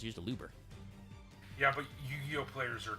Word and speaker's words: Aluber: I think it's also because people can't pronounce the name for shit. It's really not that hard. It's used Aluber.